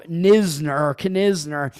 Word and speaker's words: Knizner: They're only 1 for 12 off him with Knizner. Is that how you pronounce his name? Not Noah Kaniga or what's the other? Nick Kurtz. It's Andrew Knizner.